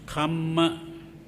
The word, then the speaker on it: kamma: form is karma k-a-r-m-a the pali form is kama k-a double m a comma but some people spell it wrong as k-a-m-a so if you say